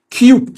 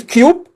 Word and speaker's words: cube: كيوب سي يو بي اي. بس لو المستر او المس قالت لك كوب هي بتنطق امريكان، ولو قالت كيوب فهي بتنطق بريتش.